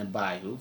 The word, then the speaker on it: Abihu: Nadab and Abihu, thank you. Mm-hmm. I'm very bad with pronouncing Tag team.